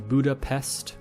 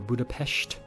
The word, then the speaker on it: Budapest: So from Prague to Vienna to Budapest, or Budapest, depending on how you like to pronounce that.